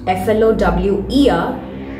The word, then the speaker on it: flour: Not F-L-O-W-E-R, but F-L-O-U-R. How do we pronounce this word? Yes, it is same as F-L-O-W-E-R.